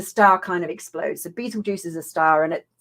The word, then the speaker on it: Betelgeuse: So Betelgeuse, not spelt Beetlejuice, spelt with a G, not a J.